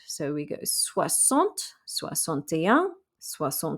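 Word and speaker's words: soixante: e and so we and the x makes an s sound so we go sua sont soy sonte yang sua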